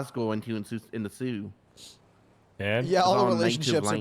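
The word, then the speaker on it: Sault: It's spelled like s a u l t by the way. What? It's not laughing. Sue is spelled s o. Sorry. S a u l t. S. Sue. St. Marie. Sult. Sue. Sue.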